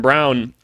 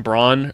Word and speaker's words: Braun: because like normally Christian Brown did I call him Braun earlier I it's Christian Brown I I don't think he knows how to say his own name I'm going to keep